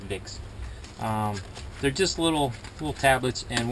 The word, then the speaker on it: Wick: And we got him it's got some ibuprofen and pseudoephedrine, and it's from Vicks, but they spell it with a W, so it's Wick to us, but it's actually pronounced Vicks.